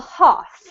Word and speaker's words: half: half well well done even with the US accent this doesn't actually have an r in it so you do need to get rid of the r sound but Carlos that was